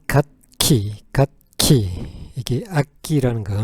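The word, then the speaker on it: 楽器: instr 아기가 여러 가지니까 복수를 하는게 좋겠습니다 그래서 발음은 갓키 갓키 이게 악기라는 거 그다음에 오락을 한번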